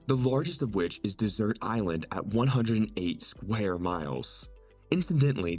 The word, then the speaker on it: Desert Island: largest of which is Desert Island at 108 square miles incidentally the island's name is pronounced like the word dessert instead of the normal